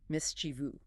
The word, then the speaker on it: mischievous: They add a phantom I near the end, but it is strictly three syllables, mis-chi-vu.